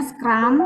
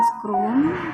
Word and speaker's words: Scrum: tutup wassalamualaikum warahmatullahi wabarakatuh itu bacanya scramb bukan scrum kemudian tadi Bacanya adalah jail